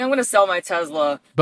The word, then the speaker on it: Tesla: Dude, I think I'm going to sell my Tesla. Bonus points for pronouncing it with the Z sound like I do.